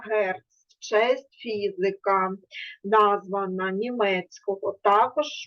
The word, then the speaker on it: Герц: певна одиниця вимірювання яка називається Герц означає DC читається Герц честь фізика названа німецького Також ми з вами